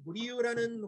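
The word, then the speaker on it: Murillo: 하지만 은은한 모습입니다 특별히 무리유라는 화가 보통 영어권에서 물이 진료하고 부립니다 왜 그러냐면 스페인에서는 l자 두 개가 붙으면 y자 발음이나요 그래서 물이 요하고 부릅니다 분명히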